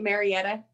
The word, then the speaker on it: Marietta: a career advisor with am is am i pronouncing it marietta you got it you're excellent yep so you